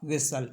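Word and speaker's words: whistle: और वर्ड है जैसे जिसमें टी साइलेंट होता है जैसे लिसन कैसल और विसल इसमें टी को हम नहीं बोल रहे हैं अब देख लेते हैं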